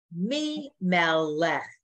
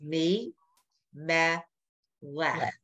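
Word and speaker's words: מי מלך: And then line 10, Mi Melech. Look at that. It's three syllables. Mi Melech.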